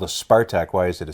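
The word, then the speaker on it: Спартак: And people might be saying, well, if it's called a Spartak, why is it a C? But in Russian, C is the S sound. So Spartak would be spelt with a C.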